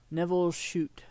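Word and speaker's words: Nevil Shute: Neville Shute, I think is how it's pronounced.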